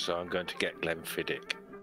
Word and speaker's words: Glenfiddich: Glenn Fittich, Bourbon Barrel, 14 years. Motherfucker. It's Glenfiddich, not Fiddich.